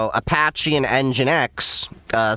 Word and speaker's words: nginx: So, Apache and Nginx, uh spelled um n g i n x, November, Golf, India, November, X-ray. Um that's But, that's how it's pronounced, Nginx.